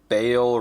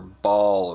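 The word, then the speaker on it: Baal: The first color was Contrast Black Legion, and this color is Contrast Bale Red, or Ball Red, B-A-A-L. Diablo says that Bale, but I've always pronounced it Ball, with like a long A, because that just makes sense.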